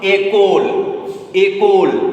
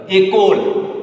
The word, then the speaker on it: école: So we pronounce it école. So you can see école, 3 syllables automatically.